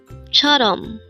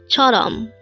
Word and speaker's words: 처럼: here at day angle word number 343 Chom Chom this pronounces a two syllable word the first syllable is cha second syllable is R pronounce it with me Chom Chum the Korean word Chum is used